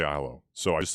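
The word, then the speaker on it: Eylau: I saw Texarkana, Liberty, ILO, and I was like, I don't know how to say ILO, so I just said Liberty.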